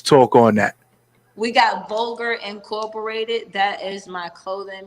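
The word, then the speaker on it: VULGVR: you can find us on instagram at um vulgar it's spelled v-u-l-g-v-r and that is a g-b you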